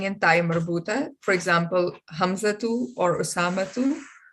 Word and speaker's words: Hamza: Masculine proper nouns ending in ta marbuta, for example, Hamzatu or Usamatu. Or we normally pronounce it Hamza and Osama. Would that be the right pronunciation? That is right, because you're saying Hamza, you're making it silent.